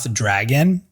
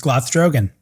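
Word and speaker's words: Glothdrogon: with glothdrogen i think i've been calling him dragon and that's not his name it's gloth drogon so kenneth finley i'm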